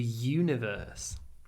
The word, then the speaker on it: universe: this one actually the universe do you think we are alone in the universe the universe you possibly want to say universe no Universe the stress is on the U and to put the